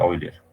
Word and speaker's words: Euler: Este término se refiere al pandeo más clásico, pandeo por flexión, también conocido como pandeo de Euler, o de Euler, se pronuncia Euler.